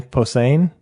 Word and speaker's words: Posehn: Patton Oswalt, Zach Galifianakis, Brian Posehn. Yeah. Is that how you pronounce it?